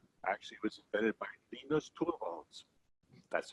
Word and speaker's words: Linus: Well, actually it was invented by Linus Torvalds.